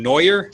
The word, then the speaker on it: Noyer: uh his name is mr joshua do i pronounce that last name neuer oh yeah yeah neuer is correct all right so mr uh joshua